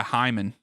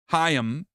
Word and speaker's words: Hyam: What a cross in from the free kick, and great run by Hyman. Hyam, not I said Hyman. That's not even how you say his name. Hyam.